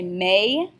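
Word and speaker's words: mais: the word but okay in French we're going to say may say is is also pronounced a so may this is an incredibly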